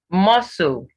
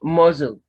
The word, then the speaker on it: muscle: s t l e muscle muscle this is not mosul yes the sea is silent but the s does not change it muscle time time that